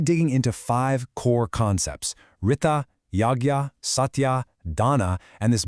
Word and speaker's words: Ṛta: Tool number one is called Rita and it's all about finding our own place in the grand natural rhythm of the universe. So what is Rita? Well, it's pronounced Rita and it's basically the universe's operating system.